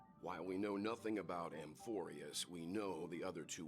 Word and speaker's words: Amphoreus: Amphoreus, that's how you say it.